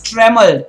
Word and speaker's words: tremble: Next one is trembled. Guys, the B is silent here. You shouldn't go ahead and say trembled. You should say trembled. I repeat, you should say tremble. The B is silent there. Tremble.